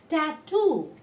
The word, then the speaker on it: tattoo: be stole more strongly so any word in english ending in double o the last one the last syllable will be told more strongly tattoo taboo things like